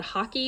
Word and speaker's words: hake: I heard one person call it hockey and one person call it like hake. It's H-A-K-E, and it's just this really soft brush.